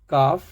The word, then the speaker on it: calf: जैसे पहला वर्ड है शुड, तो एल D should, L D would, WOULD, हाफ एल नहीं बोलना है, HALF हाफ, CALF काफ, TALK टॉक।